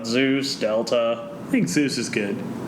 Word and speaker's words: ZeusFDelta: ZeusFDelta, but ZeusDelta.